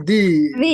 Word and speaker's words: the: Ini tadi pakainya apa? The atau the? Bacanya di. Oke, bacanya di.